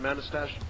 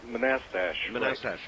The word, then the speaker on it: Manassas: that I guess all right how do you pronounce the name of your town manistasia oh oh Manassas that's right thank you uh and uh actually